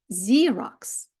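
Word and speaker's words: Xerox: чуємо з zeroк тактак Це той самий ксерокс Але читається zerx знія ніколи не здогадаєтесь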